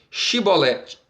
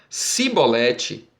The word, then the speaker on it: chibolete: então lhes diziam dizem pois chibolete porém eles dizia sibolete porque não podia pronunciar assim bem então pegavam dele e